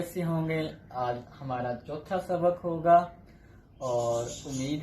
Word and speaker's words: j: नजर आपको आ रहा है जे, लेकिन ये आपने जे नहीं पढ़ना, साउंड है इसकी चे की, लेकिन चाइनीज प्रोनाउंसिएशन में इसको पढ़ेंगे ची, जरा फ्लैट करके ची, ठीक है? आपने जरा फ्लैट करना है, ठीक है? लफ्ज क्या है आपका ची, जे नहीं पढ़ना, ची।